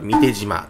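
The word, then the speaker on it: 御幣島: これ、三手島と読みますね。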